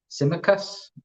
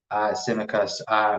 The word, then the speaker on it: Tsimikas: So yeah, the T is silent, as Doug says. But yeah, it's going to take a while to get used to his name. I'm not going to lie. It's Kostas Tsimikas.